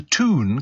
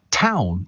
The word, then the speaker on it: Toon: The main reason for Newcastle being referred to as the Toon comes down to the Geordie pronunciation, and it is pronunciation, not pronunciation, by the way. Town.